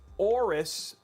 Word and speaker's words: AORUS: he probably mispronounced it so it's oris oh after the egyptian god aorus okay well there we